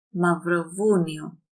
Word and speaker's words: Μαυροβούνιο: Κροατία, Σερβία, μαυροβούνιο. Here we have the combination of and this is pronounced as V because R makes the vocal chords vibrate.